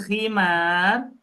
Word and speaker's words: khimar: ha ha namil ha kalau bacanya khimar pakai ko itu artinya berubah loh apa artinya khimar yang dipakai sama ibu jilbab. Ah, jilbab gitu. Padahal tipis ya pengucapannya itu tipis gitu antara ha sama k antara hi sama khi tapi artinya beda.